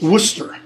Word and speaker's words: Worcester: say things like werejust or shirk its Worcester okay or chair Chester Chester